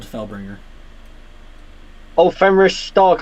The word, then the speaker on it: Stark: correct yep uh fenris stark and called felbringer oh femoris stark i thought was fenris star nope stark so is it just